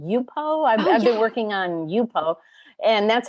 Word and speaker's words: Yupo: I've been working on Yupo, and that's how you pronounce it, Yupo.